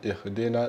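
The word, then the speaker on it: اهدنا: Quindi ihdina sirata, qua uno può chiedere ma perché non è allungato? Vedremo la sua regola, però sapete che inshallah adesso si legge ihdina senza allungarla, c'è il madre però non lo allunghiamo.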